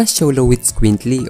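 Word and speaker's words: Xoloitzcuintli: Kilala din ang asong ito sa isang tawag at sa aming pagre-research ay pinopronounce ito na Sholo with Squintly o Sholo. Kilala din ang asong ito sa pagiging kalmado at mapagmasid at malambing sa mga amo.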